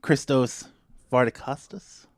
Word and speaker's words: Christos Vardacostas: Perry podcast take 21 another one at home christos far to Custis they say right very good I'm practicing like